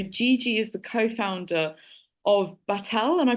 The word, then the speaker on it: Batelle: proper introduction so Gigi is the co-founder of battel am I pronouncing that correctly Gigi yeah correct perfect it's